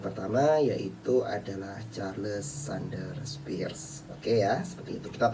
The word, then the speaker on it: Peirce: Meskipun tulisannya Peirce itu kan, kita bacanya Sanders Peirce, P-U-R-S-E, Peirce, seperti itu.